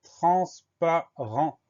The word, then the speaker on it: transparent: Le premier son en de transparent s'écrit N, le deuxième son en s'écrit E-N. Et à la fin de transparent, on a une lettre muette, on a un T qu'on va retrouver si on met le mot au féminin, transparente.